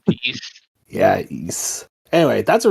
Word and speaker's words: Ys: I called it Weiss until I watched a YouTube video and I said, oh my god, I'm so stupid. Yeah, I think it's East.